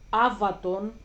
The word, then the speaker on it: Avaton: the ancient times this was Avaton that's how you say it avat It's today Avaton and it was back in the days in the ancient times.